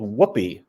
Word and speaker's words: WHOOPI: The one with the square-looking top is called WHOOPI, and that's really how you pronounce it. It's an acronym, Wisconsin Ultraviolet Photopolarimeter Experiment.